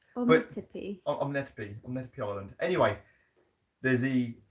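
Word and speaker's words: Ometepe: I think it's pronounced Omnetepe? Omnetepe. That word island. It's Omnetepe.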